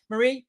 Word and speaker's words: Mari: Yeah, it's Mari like calamari or rhymes with Ferrari. I know people call me Marie, but it's Mari.